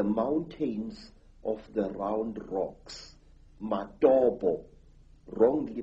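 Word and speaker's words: Matobo: place called the mountains of the round rocks madobo wrongly pronounced matopo in zimbabwe these hills are really not remarkable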